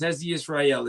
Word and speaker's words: Hezzy Ysrayl: Um, yes, Hzi Israel is exactly how you could pronounce my name.